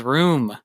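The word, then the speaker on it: rheum: how to say it room r h e u m I also don't know how to say it but it is room I wouldn't have got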